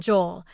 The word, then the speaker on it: Joel: I'd known Joel, pronounced the Spanish way, though he didn't get upset when people said it wrong on a casual basis longer than I'd known